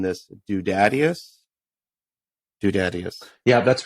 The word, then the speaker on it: Dudadius: And you released it on Spotify as correct me if I'm mispronouncing this. Dudadius.